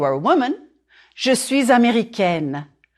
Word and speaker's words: américaine: If you are a woman, je suis américaine, américaine. Américaine. Flatten your tongue on the N and close it, N. Here, try this. Say egg, and then N.